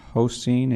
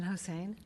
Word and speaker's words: Hossein: Seeing no questions, next up, Hoseen, and you may need to correct my pronunciation. Hi, it's Hossein, but that was pretty close.